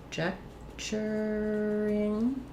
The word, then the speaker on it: conjecturing: So conjecturing. Stress is on the ject here, so my letters C-O-N are going to have the sound, the schwa, unstressed, and then the letter